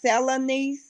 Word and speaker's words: Selene: So it's pronounced Selene. Yes. Selene. Okay. Almost like Melanie, but Selene.